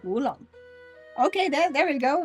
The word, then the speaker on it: oolong: Uh like we would pronounce it in Dutch as ulong. It's different in Chinese. It's like woolong.